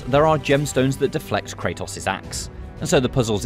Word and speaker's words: Kratos: action Kratos takes craters you as folks can pronounce anything however you want but it's Kratos okay I don't care how British you are it'll never be Kratos moving puzzle pieces with